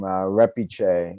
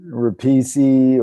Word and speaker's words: Repice: say your name uh repich is the last name repich it's it yeah it's Italian and people regular Americans say nobody says it how do how do most people say it repesi or rapis or you know and so